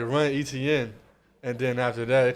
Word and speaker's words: Etienne: Etienne, Travis Etienne.